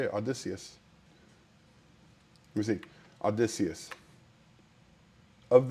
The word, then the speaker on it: Odysseus: Odysseus. Let me see. Odysseus. Of this year. Odysseus. Yes. That is how you pronounce it. Odysseus.